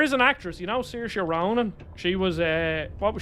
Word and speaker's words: Saoirse: It's pronounced Saoirse.